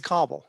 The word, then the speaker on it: Cabell: Okay, well, I call it Cabell County. Yeah, so- people call it Cabell, but it's actually, I thought so too, but it's actually Cobble.